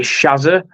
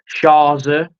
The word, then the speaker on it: Shazza: So how do people actually pronounce your name? Is it Shazza? Shazza?